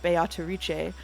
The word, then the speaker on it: Beatrice: how to pronounce uh beatric because not only will I acknowledge that the Japanese uh actors are saying biche I will say that uh the Japanese pronunciation is based on Italian pronunciation which I checked ahead